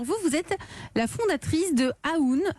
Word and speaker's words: AÚN: Alors vous êtes la fondatrice de Aoun. Aoun, ça s'écrit A-U-N. U accent aigu. U accent aigu N, Aoun Paris.